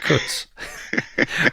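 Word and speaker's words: Kuntz: Zach Cuts. Pronounced without the N.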